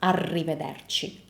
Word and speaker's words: arrivederci: Arrivederci, arrivederci. Double R means that you keep the sound for longer.